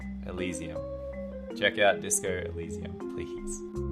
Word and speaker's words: Elysium: I think that's how you say it, not Elysium. Yes, we have word at the... Yep, thank you. It's Elysium.